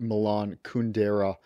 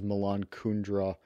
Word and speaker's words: Kundera: or the novels of Milan kundera who I've mispronounced as Milan kundra elsewhere those European Works